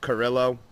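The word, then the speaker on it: Carrillo: to her nest oh I believe I pronounced his last name wrong believe it's pronounced Carillo so I apologize for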